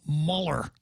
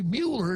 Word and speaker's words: Mueller: I hear this name Mahler what a heck is Mahler the guy's name is Mueller and if you can't even pronounce his own name correctly Mueller not Muller then you shouldn't have